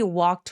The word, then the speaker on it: walk: 근데 walk. 걸은 건 혀의 힘을 완전히 빼고 walk. 턱이 길어지는 게 포인트입니다. He walked to a quiet lake.